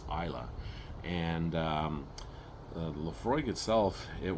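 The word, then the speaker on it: Islay: um uh on Isa and um it's not pronounced iel it's Isa and um Lefroy itself it was um well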